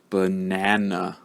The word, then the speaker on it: banana: example for a moment so again this word has three syllables banana banana can you hear I told you that the schwa sound sound like uh can